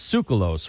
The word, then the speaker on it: Tsoukalos: It's Tsoukalos, right?